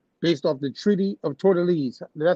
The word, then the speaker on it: Tordesillas: Everybody, I don't give a damn, Dutch, French, Spanish, Portuguese, know that this area called Brazil, based off the Treaty of Tordesillas.